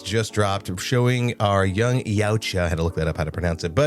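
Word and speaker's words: Yautja: And lastly, the official trailer for Predator Badlands just dropped, showing our young Yaoucha. I had to look that up, how to pronounce it, budding up with Al Fanning's Wayan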